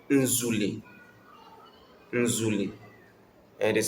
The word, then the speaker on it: nzule: Nzule. And it is spelled as Z U O E Nzule.